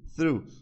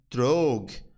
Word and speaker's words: through: E aí, quando a gente tenta ler isso aqui sem ouvir, a gente teria tentar ler assim, ó, throg, né, throg, alguma coisa assim, mas a gente pronuncia assim, ó, sonzinho do TH, ru, through, through, ok, through, I get